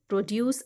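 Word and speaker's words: produce: देखें इनके जो करेक्ट प्रोनाउंसिएशन है, जब ये सेंटेंस में आते हैं, जब ये किसी भी सेंटेंस में आते हैं, जब ये वर्ब फॉर्म में होते हैं, तो इनका सेकंड सिलेबल वो स्ट्रेस्ड होगा, चाहे रिकॉर्ड हो या प्रोड्यूस हो।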